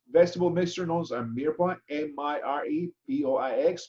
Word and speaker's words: mirepoix: The basic ingredients in these stocks are bones, vegetable mixture known as mirepoix, M-I-R-E-P-O-I-X, pronounced mirepoix.